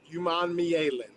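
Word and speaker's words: Princely Umanmadu: It's Princely Uman. That's how you say it. Uman.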